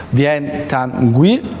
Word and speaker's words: Viet Thanh Nguyen: Viet Thanh Nguyen, spero di averlo pronunciato bene, I hope.